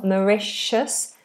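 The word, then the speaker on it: Mauritius: So, this is a sh in the middle. Maicius.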